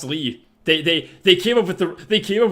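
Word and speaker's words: Lea: what it's spelled it's it's pronounced Lee they they they came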